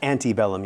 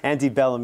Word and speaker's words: antebellum: the civil war the antebellum united states every time i pronounce it anti i want to kick myself yeah anti-bellum united states um northern